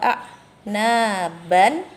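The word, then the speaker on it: أَعْنَابًا: Hadaika wa a'naban, dibaca hadaika wa a'naba, 2 harokat.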